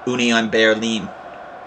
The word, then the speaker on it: Union Berlin: Yeah, I know I've been saying Union Berlin, but it's actually supposed to be pronounced Union Berlin, if you're German.